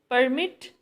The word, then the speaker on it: permit: Now in sixth one, permit, stress is on second syllable.